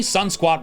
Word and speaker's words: Sunsquat: Additionally, sun squat rhymes with sunspot.